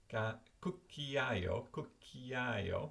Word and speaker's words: cucchiaio: spelling, in different colour, how to pronounce it, cucchiaio, do you see this? Cucchiaio. And then I've split out, using my own system here, the syllables are separated with dots, and the stressed word has got a little hat over the top of it.